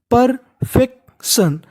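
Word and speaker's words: perfection: अगर आपको इंग्लिश में कहीं पर टी आई ओ एन लिखा मिले तो उसे हम लोग पढ़ते हैं सन। क्या पढ़ते हैं? सन। और शुरुआत में लिखा है पी ई आर। हम लोग पी ई आर को पढ़ते हैं पर।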